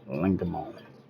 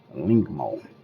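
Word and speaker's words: Lengmo: I believe it's pronounced lingon you understand don't kill me in the comments man you understand I believe it's lingmo all right and this is our first piece lingmo you understand this thing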